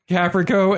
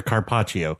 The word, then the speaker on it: carpaccio: goes great with flying reindeer, Caprico, and Templar fairy wings. Yeah, flying reindeer Carpaccio. Oh, thank you. I butchered the hell out of that word.